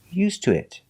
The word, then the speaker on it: used to it: Pronunciation, used to it. Now the tuh changes to oo, used to it. Before it, we change the sound.